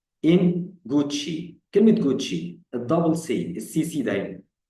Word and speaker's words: Gucci: كلمة جوتشي، الدبل سي، السي سي دايما. أنا قلتها إيه؟ جوتشي طبعا كلمة إيطالية، ماركة ملابس.